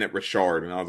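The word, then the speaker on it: Richard Mille: watches and then like if you broke you say Richard Mill like yeah like okay Rashard the Swiss pronunciation Rashard right my name's like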